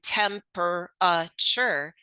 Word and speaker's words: temperature: that word is decodable the vowel in the third syllable in temperature needs to be learned remember all vowels sometimes make the schah sound uh a student can almost read the word or spell it temperature by sounding it out but they need to learn by memory that the schwas sound in this word is made by the vowel a research clearly shows the